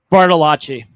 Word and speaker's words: Bartolacci: Now, before I really uh like really mess up your last name, what is the correct pronunciation of your last name, sir? Bartali.